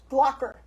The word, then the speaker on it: Glockler: And we have Nigel Glockler. You pronounced it right.